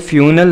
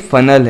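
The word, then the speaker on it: funnel: ये फ्यूनल नहीं है बल्कि ये फनल है, फनल केक यानी कि जलेबी।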